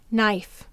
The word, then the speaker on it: knife: The ninth word is knife. Be careful with the knife. Let's sound it out together. N. This is two-letter N used only at the beginning of the base word.